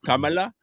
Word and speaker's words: Kamala: Um, it is Kamala.